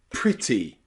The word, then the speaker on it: pretty: In some words where you stress that E, we pronounce it as the short I sound. Practice with me. English, England, and pretty, pretty. Don't say England or pretty. That sounds really silly in English, but pretty, English, and England.